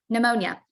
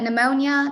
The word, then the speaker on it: pneumonia: be confused um but pneumonia this is the one that's always funny with the silent P um usually it is